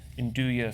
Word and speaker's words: andouille: From andouille sausage-- am I pronouncing that right?